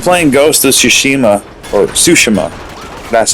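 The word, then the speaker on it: Tsushima: uh I've been playing ghost of sushima or sushima that's how you pronounce it and uh as an open world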